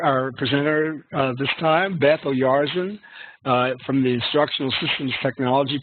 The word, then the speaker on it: Oyarzun: So please, everyone, let's give a nice round of applause to Beth Oyarzun. Thank you, Sam, for that very nice, warm introduction. Like you said, and you pronounce my name so well.